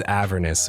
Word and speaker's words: Avernus: Uh I think I think proper pronunciation is avernous, but I like a verest.